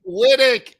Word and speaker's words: Wittich: I know, but I didn't know that the CH was I thought it was and it's Connie Wittich is on the show today.